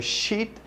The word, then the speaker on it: sheet: on va dire et les deux e qui vont se prononcer comme i donc shit some shit ça veut dire de la merde et a sheet of paper ok vous